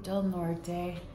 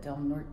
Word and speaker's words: Del Norte: So we're about ready to leave Del Norte, or Del Norte, as one local just called it, Del Norte Peak. But Del Norte seems like it's how it's supposed to be pronounced.